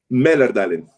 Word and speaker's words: Mälardalen: Mälardalen, o sea, la A con 2 punticos suena como una E, Mälardalen.